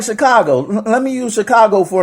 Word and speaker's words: Chicago: You know, like you know when somebody is from out of town, when they say Chicago, it's not Chicago.